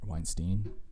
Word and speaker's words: Weinstein: guy named eric weinstein weinstein he probably wants to be called weinstein because it rhymes with um einstein and he's a mathematician